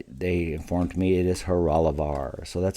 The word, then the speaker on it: Horolovar: this clock and they informed me it is heralavar so that's how you pronounce the name of this clock now you